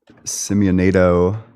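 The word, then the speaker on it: Simionato: Um there's a good philosophy paper by Marco Simeonado. Okay. How do you spell it?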